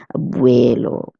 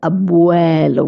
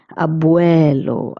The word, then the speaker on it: abuelo: Most people would have the tendency of pronouncing this word as abuelo. But it's abuelo. We pronounce it nice and open mouth. Abuuelo.